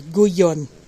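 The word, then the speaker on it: Gullón: Product of Spain, so I pronounce it correctly, Guyon.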